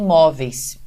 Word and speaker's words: móveis: Aí em seguida você tem móveis. E você tem móveis. Olha o que aconteceu. Nesse caso, a sílaba tônica não é a última, porque aí existe um ditongo, mas sim a penúltima.